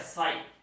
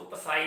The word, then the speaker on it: psi: इसमें जो ये है साई, इसका स्पेलिंग होता है PSI, है ना, पर इसको पसाई नहीं बोलते हैं, इसको क्या बोलते हैं, साई.